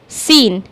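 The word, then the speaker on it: scene: कभी-कभी हम यहां पर नहीं समझ पाते हैं कि सी साइलेंट है और हम बस इसको रीड कर देते हैं। तो आज आपको आई थिंक क्लियर हो गया होगा ना कि एस और सी साथ में आए हैं। इसलिए यहां पर सी यहां पर साइलेंट है और हम इसको रीड कर रहे हैं सीन।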